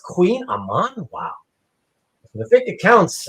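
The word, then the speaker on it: Kouign-amann: It's It's pronounced Queen Aman.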